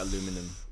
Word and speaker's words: aluminum: Yeah, I don't get aluminum because it's Ooh.